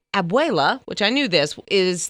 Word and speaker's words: abuela: because I wanted to get the correct Princeton pronunciation so hopefully I got it right but anyway she said abuela which I knew this is the term for